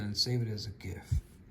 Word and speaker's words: GIF: And then let's do it again and save it as a GIF. I know some people say GIF, but it's grouped image format, so that's a hard G last time I checked.